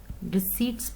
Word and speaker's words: receipts: D seats ठीक है पी यहां पे आपने साइलेंट करना है तो आपने इसको जो है रिसिप्ट्स बनाना है ओके सीड्स कंफ्यूज नहीं